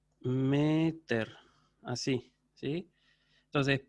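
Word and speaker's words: μήτηρ: que en griego es meter. Meter, así, ¿sí? Entonces, pater, con acento agudo al final, pater, padre. Meter, con acento agudo, pero en la sílaba anterior, madre, ¿sí?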